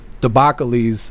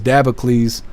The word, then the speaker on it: Dabocles: I was saying Debbocles, but it was Dabocles. And I was saying it wrong for like four years.